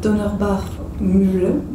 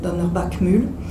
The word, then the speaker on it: Donnerbach Mühle: Je passe là-dessus, je vais m'arrêter sur un poème plus parlant, plus évocateur, c'est celui de Donnerbach Mühle, si on le prononce à l'allemande, mais c'est un lieu alsacien, donc Donnerbach Mühle.